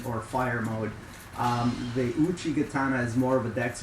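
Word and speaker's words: Uchigatana: gatana in my videos I've been pronouncing it Uchi gatana the correct pronunciation is Uchi gatana um is way better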